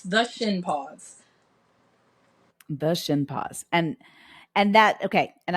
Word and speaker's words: Shinpaugh: your last name sure it's like your shin s sh i n and then like a dog's paw but it's spelled p a u g h so Shin paw the shin Paws with an